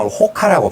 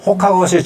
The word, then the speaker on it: Roca: 근데 영어 발음은 로카인데, 포르투갈 발음은 호카라고 발음을 하는 모양이에요.